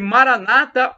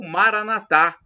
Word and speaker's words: Maranatha: ele proverá Acredite e Maranata ou Maranatha aí vai depender de como vocês queiram falar porque a as duas pronúncias Maranata ou Maranatha O que significa a mesma coisa o vídeo Senhor Jesus